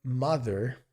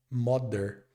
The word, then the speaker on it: mother: E o primeiro ponto é que normalmente a gente pensa que essa palavra tem um som de m, moder, mas ele não é um som de o e nem de d. Então, ao invés de falar moder, nós falaremos ma com som mais de a ma com o som do th.